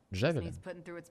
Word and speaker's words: Джавелин: Джавелин? На А ударение.